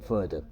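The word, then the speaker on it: farther: adverb की फादर एंड फदर normally इसको पहले इसको एफ ए आर फादर आर को साइलेंट रखा जाता है फादर एंड फदर फादर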